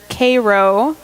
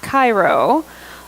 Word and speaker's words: Cairo: have names some of the town's names were Cairo not Cairo karnak there was a thieves also so these